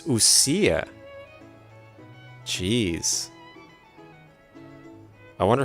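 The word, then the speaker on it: Ousia: That's how you pronounce that. Usa. I was saying like Usia or UA or Ouija. I was saying Ouija, I think, at the beginning. Numa and Ouija, but it's Usia.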